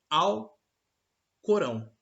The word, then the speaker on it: Alcorão: sagrado é o alcorão a gente pronuncia tudo junto né alcorão quando na realidade na língua árabe a pronúncia é ao alcorão ou o corão traduzido para a língua portuguesa